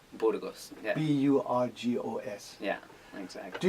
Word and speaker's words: Burgos: And Burgos, right? Yeah. Yeah. Is it pronounced properly? And Burgos. Burgos.